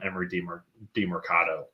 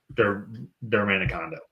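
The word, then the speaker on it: Emari Demercado: So potentially could see a lot of Emery DeMercado as well. Dermanicondo. No, you actually said it right the first time.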